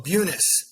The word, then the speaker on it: Bunis: buunis or buunis so buunis the U is a long u and everybody everybody has